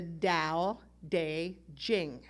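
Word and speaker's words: Tao Te Ching: based on an ancient ancient text called the dao de jing let me say that again so you know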